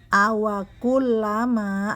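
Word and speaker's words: أَوَكُلَّمَا: Awakullama, lamnya bertasydid, kemudian dua harokat, dua harokat, dan tanwin bertemu nun, idgham bi gunnah, maka hukumnya mendengung, dan mendengung ukurannya adalah dua harokat.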